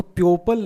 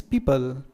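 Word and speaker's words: people: पीपल, इसको प्योपल नहीं बोलेंगे, करेक्ट प्रोनाउंसिएशन इज पीपल।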